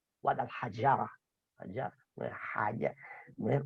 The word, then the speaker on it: Guadalajara: como podemos ver, Guadalajara, la J la estamos pronunciando como si fuera, digamos, como una H inglesa o como una, digamos, sí, como una H inglesa, pero no estamos teniendo en cuenta la Jin árabe, Guadalajara, no es Haya,